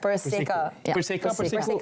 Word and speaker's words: PERSEKA: But first of all, did we get the pronunciation correct? PERSEKA. PERSEKA. Persatuan Penggiat Seni Reka Barang Kemas. So it's PERSEKA.